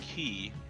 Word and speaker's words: Ki: the same thing but in D and D they're using the Japanese pronunciation which is key yeah okay I I